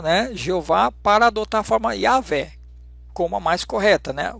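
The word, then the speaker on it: Yahweh: Então vamos colocar a yaveh vamos tirar nós cometemos o erro não é Jeová e aveh né mas não continuar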